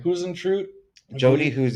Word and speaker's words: Huisentruit: How do you pronounce the last name? Huisentruit, I Jodi believe. Huisentruit.